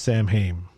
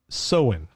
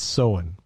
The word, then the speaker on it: Samhain: yes i do yeah yeah it is not pronounced samhain it is written samhaim but do you know how do you pronounce it no i don't sew in it's the like so sow our s-o-o-w-e-n sew-in